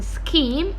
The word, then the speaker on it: scheme: Okay, and the ch spelling in scheme is ka sound. The ha is silent.